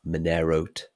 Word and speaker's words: Monerote: What about if somebody leaves us a Monerote? A Monerote. Ooh. It's like a multi-layer play on words there. They wrote to us, Monerote. Yeah. It rhymes with note.